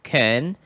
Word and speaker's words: conservative: Like conservative is pronounced conservative. So you can put a little bit of stress at there, and then you can go to the next.